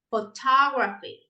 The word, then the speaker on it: photography: Yeah, so we have photograph, not photograph, photograph, photography. Now we stress the second syllable.